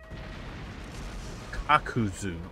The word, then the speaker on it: Kakuzu: Immortal member of the Aki known as kakuzu kakuzu okay I mispronounced it when I was doing it earlier